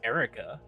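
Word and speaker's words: Eruca: us to rely on it's it's spelled like aruka but it's literally just Erica please your decision there's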